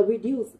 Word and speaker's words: reduce: Như vậy cô sẽ suy ra được với cái từ reduce trọng âm rơi vào âm tiết thứ hai, được không ạ?